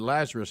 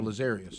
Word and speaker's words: Lazarius: But you would think when I said Lazarus, he would have said no, Lazarius.